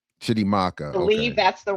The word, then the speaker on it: Chitimacha: And so I label myself Chitimacha in the chat because I'm born and raised on stolen Chitimacha land, which is all of Southeast Louisiana, inclusive of New Orleans.